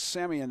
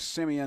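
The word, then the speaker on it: Semien: I looked that up I saw two different pronunciations but I believe Simeon is the correct one although I've also seen simine or san so I don't know I'm going with Simeon okay again it's Marte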